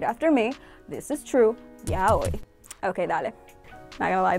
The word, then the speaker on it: yaoi: and yah we have never been the correct pronunciation it's yo e and I know I'm usually the one getting